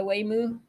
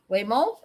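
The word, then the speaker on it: Waymo: The Whimoo. Whimo. Whimo. Whimo. Is it Whimo? It has to be Whimo, not Whimoo. Whimoo. It would be like talking about a cow or something.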